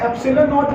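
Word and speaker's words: epsilon nought: में जीरो डाला है, this is pronounced as नॉट। The word नॉट here denotes vacuum और एयर, एब्सोल्यूट, राइट। तो 1/4πε0, यहाँ पे एप्सिलॉन नॉट की जो वैल्यू है,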